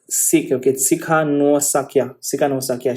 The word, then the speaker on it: Tsikhanouskaya: I want to pronounce it properly. Tsikhanouskaya.